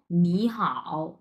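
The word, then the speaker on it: 你好: এটা শুধুমাত্র উচ্চারণের ক্ষেত্রে তাহলে আমরা কি উচ্চারণ করব এটা উচ্চারণ করব হচ্ছে নি এইরকম মানে দুই নাম্বার টন নিচ থেকে উপরের দিকে উঠবে আপনার উচ্চারণটা নিচ থেকে উপরের দিকে উঠবে নি আচ্ছা তাহলে হাওটা কিভাবে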